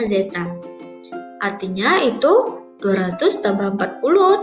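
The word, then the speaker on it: ζ: Lambangnya seperti itu ya, bacanya zeta.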